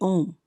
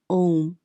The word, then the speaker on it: Om: and this is the om and the om only because these three letters a u m pronounced in combination as o may well be the